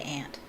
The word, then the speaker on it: aunt: to pronounce it yes they say aunt but if i'm saying it in my accent i should say ant because that's how i pronounce it ant aunt marge lived